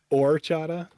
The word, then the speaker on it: horchata: person on this podcast or Chada yeah it's or or the H is silent all right I might